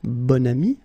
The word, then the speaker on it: bon ami: Okay, so you can see that here you've got this adjective, bon, okay, and then you pronounce it bon ami when you make this link.